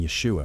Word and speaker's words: Yeshua: The esh sound in Yeshua, for instance, didn't exist in classical Greek. Greek speakers couldn't properly pronounce it.